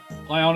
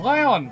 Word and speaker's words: Lyon: the father the folder lyon is a french city name so pronouncing it in the french accent makes sense oh so more like